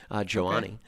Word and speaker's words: Joni: But she was with Joannie, which is actually how Joni's name is pronounced, Joannie. She goes, "Oh, I'm with Joannie."